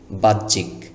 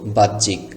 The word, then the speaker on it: বাহ্যিক: কিন্তু বাংলা রিডিং পড়ার সময় আপনাকে দুইটি জ উচ্চারণ করে পড়তে হবে। হ উচ্চারণ করা যাবে না। এটা চিরকাল মনে রাখতে হবে। বাহ্যিক সহ্য বাহ্যিক।